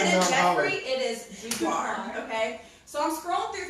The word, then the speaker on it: boudoir: So it's boudoir.